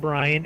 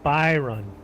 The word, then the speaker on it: Byron: It's not Brian. It's Byron. Byron.